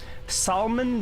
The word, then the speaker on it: salmon: Salmon does not make sense phonetically without the L.